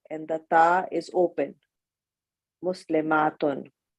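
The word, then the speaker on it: مسلمات: the ta is open, muslimatun. In pronunciation, the only difference between the singular and the plural is the shortness and length of a. Muslimatun, muslimatun. Excellent.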